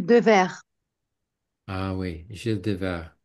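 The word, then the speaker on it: Devers: qui était beaucoup plus encore une fois comment prononcer son nom Gill Gilles de vert ah oui Gilles dev vert d d e V e r s mais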